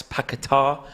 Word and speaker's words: Paquetá: West Ham line up as this: Fabianski, Agard, Kufal, Zuma, Cresswell, Souček, Rice, Paquetá. I believe is the correct way to pronounce that. I was corrected one time.